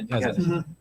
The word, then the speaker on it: Kasunich: Kazanich. Kazanich, Yeah. I think I just learned this year I how think- to pronounce Yeah.